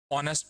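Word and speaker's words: honest: जाएगा आ big building, ऑनेस्ट person तो S silent है, ओ से स्टार्ट है, ओ, ओ, तो वॉवल साउंड है, तो यहाँ पे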